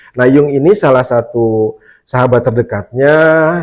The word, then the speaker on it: Jung: Indonesia tulis Jung Iya tulisannya Jung bacanya Yung gitu ya Ee nah